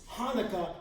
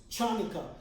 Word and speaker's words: Hanukkah: And therefore people screw up stuff and they go like, "Oh, it's Hanukkah." No, it's chanica.